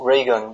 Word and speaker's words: Reagan: she used to have these operations actually it's pronounced regan but they pronounced it reagan because they thought it sounded more high class